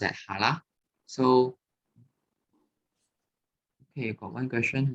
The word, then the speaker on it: Challah: Okay, not Challah. Okay, it pronounced as Challah.